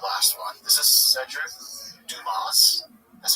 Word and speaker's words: Dumas: This is Cedric Dumas. That's how you pronounce his last name.